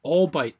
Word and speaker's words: albite: last example down here so called all bite twinning let's rewrite that all bytes twinning we'll include the l when we spell that so all bite twinning